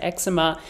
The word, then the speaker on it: eczema: eczema around my eyes yes I say eczema you can pronounce it eczema I'm Canadian so maybe that's a Canadian thing we say eczema anyway so a lot